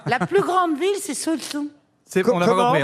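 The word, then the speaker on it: Saujon: La plus grande ville, c'est Sochaux. On n'a pas Comment compris, on n'a pas compris. Royan. Royan. Non mais comment tu Ah, l'écris? Royan. Sochaux. Sochaux, comme ça se prononce.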